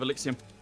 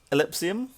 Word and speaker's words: Exillium: I've been told to tell you that it's Exillium. It's pronounced Exillium. What do I keep saying? Ellipsium? Exillium? Well, Exillium it is.